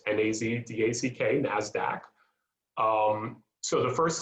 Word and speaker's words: NASDAQ: three other examples of stocks within the dow nasdaq and just in case somebody needed to know how it's pronounced nazdack nasdaq um so the first exchange to go